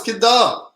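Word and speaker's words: ਕਿੱਦਾਂ: Oh, it's Kidda. Why you got the H in the K, bro?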